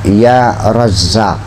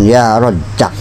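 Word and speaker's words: يا رزّاق: Bacanya ya razzaq. Awas ya razzaq. Jangan ya rzaq.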